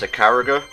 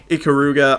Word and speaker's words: Ikaruga: Is that how it's pronounced? Icariga? Ikaruga.